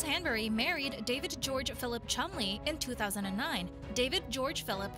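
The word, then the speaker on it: Cholmondeley: married David George Philip commandelli for some reason pronounced as the Martians of Chumley Rose Hanbury married David George Philip Chumley in 2009 David George Phillip was the seventh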